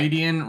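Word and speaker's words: Rhuidean: Roidian rhymes with Freudian.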